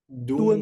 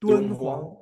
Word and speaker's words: Dunhuang: Dunhuang, Dunhuang, Dunhuang? Dunhuang. Dunhuang?